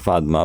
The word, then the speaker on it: পদ্মা: এটাকে আমরা উচ্চারণ করি ফাদমা, বাট এটা তো পদ্মাই নাম আর কি, কারণ আমি পদ্মা বলতেছি।